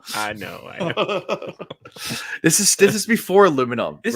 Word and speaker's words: aluminium: This is before aluminum. This right? is before aluminium. Aluminium is the British say.